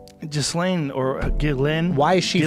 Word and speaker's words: Ghislaine: How do you say her name? Ghislaine. I thought it was just Lane.